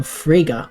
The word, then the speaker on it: Fraga: deal between Beatrice and William Fraga which rhymes with Sega William Fraga is the